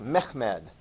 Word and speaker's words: Mehmed: accomplish the the task the name is pronounced mehmed okay and I've assigned